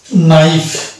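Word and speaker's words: knife: হচ্ছে কে এন আই এফ ই এটা হচ্ছে নাইফ কেন নাইফ হলো কেন শুরু হলো কারণ কে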